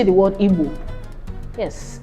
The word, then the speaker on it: Igbo: There is no English equivalent, so just listen to me. It's pronounced as B, B, as in Igbo. Can you say the word Igbo? Yes, Igbo is IGBO.